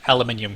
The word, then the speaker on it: aluminium: Right, rocketry allows you to found the corporation Aluminium Co. And I will pronounce it like that even without the I in there.